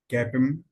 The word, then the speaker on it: CAPM: formula, that is a cap M. Generally in the books they are pronounced at CAPM formula, but as per approach, professional approach, that is called CAP-M formula.